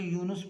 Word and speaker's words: یونس: اگلا لفظ ہے یونس، یونس نون پر پیش پڑھیں گے تو تلفظ ٹھیک ہوگا، یونس نہیں پڑھیں گے، یونس پڑھیں گے۔ متحدہ میم